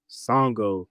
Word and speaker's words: Sango: Songo. It's his name is spelled Sango, and if I'm not mistaken, that might be the derivative of a character from an anime called Inuyasha.